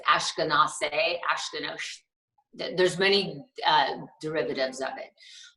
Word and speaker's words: Askinosie: Askinosie, is that pronounced correctly? Askinosie, yes.